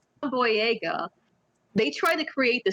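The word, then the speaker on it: Boyega: his last name right cuz I keep saying boy daga but it's boy boy Yaga they try to create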